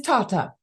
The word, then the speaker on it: Tata: name it's all done it's in Italy it is Tata and my husband was Italian and the last name in Italy was pronounced Tata in America they've said Tata so it's Reverend data